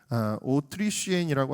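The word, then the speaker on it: Autrichienne: 특별히 이 오스트리아 사람이라는 말이 오트리쉬엔이라고 하는데 그 뒤에 나오는 이 쉬엔느라고 하는 말이 프랑스어에서는 욕하고 발음이 같습니다. 욕으로 쓰이는 어떤 동물에 대한 발음하고 같아요.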